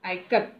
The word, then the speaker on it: Ikat: Janaki teacher said it is pronounced I as in it, I as in it, Ka as in Kamala, and T as the in both. Ikat.